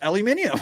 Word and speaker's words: aluminium: that's like you say aluminum it's an it's a British word and it's pronounced aluminium wait a minute how